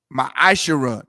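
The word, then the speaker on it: מעשר: Ma'ashara, tithes is pronounced ma'ashara in the Hebrew.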